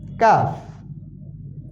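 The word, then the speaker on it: ق: সময় কফ আর কাফ অধিকাংশ মানুষ ভুল করে এখানে এখানে দুইটার উচ্চারণ একই রকম করে কাফ কাফ বলে আসলে না এখানে কফ হবে কফ প্রথম কফ কাফের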